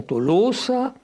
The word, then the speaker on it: Tolosa: Les auteurs grecs l'écrivent Tolosa, avec un omicron suivi d'un oméga, ce qui vous explique la prononciation Tolosa, la fermeture du second O, et c'est ça qui a donné finalement Toulouso et Toulouse.